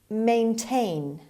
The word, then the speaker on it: maintain: word number one maintain maintain maintain the stress is on the second syllable on t means keep